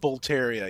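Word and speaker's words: Boletaria: right let's make sure uh you got that pronunciation right yeah b o l e t a r i a Gates of bolaria yep that's it he now Gates of B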